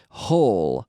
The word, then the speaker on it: whole: same as well but there's a silent W a silent W in front of the H hole hole in Dan o wh o le hole we we will spend